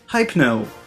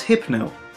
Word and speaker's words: Hypno: And speaking of sleeping Pokemon, Hypno. Do you say hypnotize someone? No? Good, then his name is Hypno.